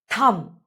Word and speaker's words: thumb: Thumb. T H U M B will be pronounced as thumb not thumb.